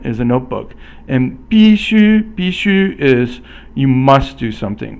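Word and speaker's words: 必须: And then so 笔记本 or 笔记本 is a notebook, and 必须 is you must do something. Fourth tone is 必, and then 须 is first tone, must.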